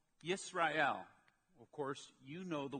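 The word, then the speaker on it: ישראל: going to go through is a word called yes Royale of course you know the word in English as Israel now yes Royale and Israel are the same word yes ray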